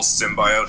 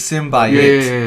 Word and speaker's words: symbiote: Like, I think the 1990s cartoon, it pronounced it symbiote. Well, most people pronounce it symbiote.